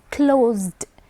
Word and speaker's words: closed: You would use a d ending, a simple sound d. Closed. So it's not id, closed, no. It's not closed, no. It's closed.